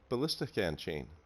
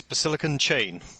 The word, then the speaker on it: BasillicanChain: to get to know him today uh welcome ballistic and chain thank you thanks for having me no problem i think i butchered your name a little bit uh maybe